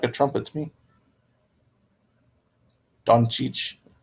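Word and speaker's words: Dončić: a trumpet to me Don Cheech it's not donchic everyone here says I mean a lot of people say doncic or donkicch and that they can't so we just say Luka doncic Don Cheech Chong I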